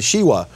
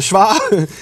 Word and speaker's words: Shva: studying these things and he calls it the Shiva. But no, we call it the Shva.